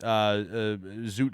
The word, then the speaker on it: Zoot: The Zoot era really does date back into the 30s. So it rhymes with shoot.